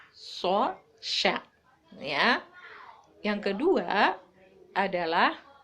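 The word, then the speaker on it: ث: Kalau so itu agak monyong ke depan, so.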